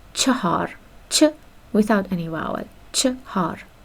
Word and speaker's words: چهار: چهار is the correct pronunciation, but because everything gets normalized by time, the pronunciation has turned into chahar in informal Persian. But its correct version is chahar or chahar, ch without any vowel, chahar or chahar.